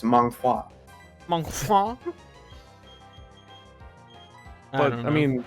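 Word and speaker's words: manhwa: yeah and they call they're pronounced mom wha they're not manga okay manga is Japanese Mahwah is Korean okay oh wait wait did you pronounce it because you kind of announced it like the Chinese ones where it's month wah wah wah but I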